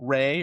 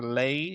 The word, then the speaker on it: Rei: Rei or Lei, in how they say it, Japanese REI, which was a female artificial intelligence that is a kind of a main part of the Well, character.